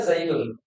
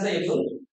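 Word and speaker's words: زيدٌ: Kata saya yang asalnya adalah Zaidun. Kata Zaid asalnya Zaidun. Ada nun sukun di akhir kalimat. Ini namanya tanwin nun sukun ini. Dia diucapkan tapi tidak ditulis. Jadi ketika kita mengatakan Zaidun, cukup seperti ini dengan tambahin nun.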